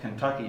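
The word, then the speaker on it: KentuckyJ: honor of tom zalewski so it was spelled kentucky j but pronounced in kentucky um and then we made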